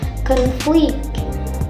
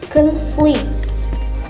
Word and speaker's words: conflict: Word conflict. Syllables conflict, stress in the pronunciation is in the first syllable for noun like conflict, and for verb, stress in the pronunciation is in the second syllable like conflict, conflict.